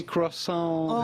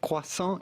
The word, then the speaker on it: croissant: Well, essentially, if you are able to pronounce the French R like the We French need a John do, and Gordy just say croissant here. Croissant. You think? doesn't exist. Croissant. Yeah. The T at the end of croissant Okay.